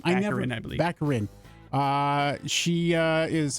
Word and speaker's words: Baccarin: How do we pronounce her last name? Baccarin, I believe.